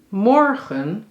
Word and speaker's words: morgen: Morgen, klemtoon op morgen.